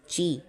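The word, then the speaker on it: ち: सो ता तारो ता ची ठीक है ती नहीं होता ची होता है और यहां पे ये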